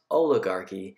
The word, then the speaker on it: oligarchy: might have power it's a kind of a strange word it's pronounced oligarchy and then oligarchy is just